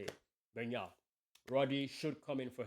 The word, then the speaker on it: Bernal: And at some point, Rodri would come in for Bernal, is how you say it. Bernal.